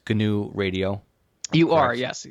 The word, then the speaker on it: GNU: saying that right it's gnu radio you are yes ganu radio sometimes you don't know if the g is silent or not but so let's talk